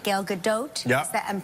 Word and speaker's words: Gal Gadot: And so Gal Gadot, right? Gal Gadot? Yeah. Is that, I'm pronouncing her name correctly?